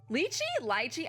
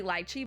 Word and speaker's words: lychee: So lychee, I never know how to say it. I think it's technically lychee, but like Americans say it lychee. I think that's the difference.